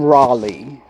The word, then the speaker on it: Raleigh: Well, his name is spelled Raleigh, Rollie, but they call him Raleigh.